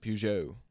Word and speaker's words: Peugeot: saying yes I finally figured out how to pronounce it Peugeot oh Ferrari I said the Peugeot was making